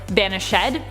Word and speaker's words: banished: Fun fact, it is sometimes pronounced banished ed in Shakespeare in order to maintain the iambic pentameter.